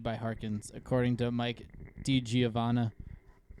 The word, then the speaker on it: DiGiovanna: pitching substance distributed by Harkins, according to Mike DiGiovanna. Pronounced that right.